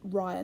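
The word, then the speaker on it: rya: yarn that we're going to create our first rye knot with. The rye knot is spelt R-Y-A, and it's going to go just here.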